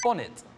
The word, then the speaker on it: bonnet: 그러면 발음이 어떻게 된다고요? 본닛. 본닛. 본닛.